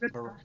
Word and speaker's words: Repast: Am I pronouncing that okay? Repast, suppose? Repast.